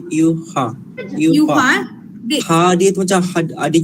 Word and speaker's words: Ewha: Ini memang ejaan dia EWHA tapi bunyi dia Yuha.